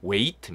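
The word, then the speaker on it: weight: 아닙니다만 카더라 통신 입니다 웨이트 이다 웨이트 뜻이 h 는 발음 되지 않아요 왜 이 그윽한 입니다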